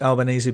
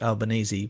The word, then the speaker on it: Albanese: how do you pronounce Albanese but I found a very good video of him saying it's in as in spaghetti bolognese and he said I'm